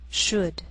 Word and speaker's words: should: Sometimes L can be silent, so you have to be careful. The first 5 words listed below are very common, so let's take the time to make sure that you're pronouncing them correctly. Listen and repeat after me. Talk, walk, could, should, would.